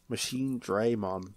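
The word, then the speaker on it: Machinedramon: Digimon World next order in that machine determines pronounced machine dream on that's pronounced the machine dream on it's weird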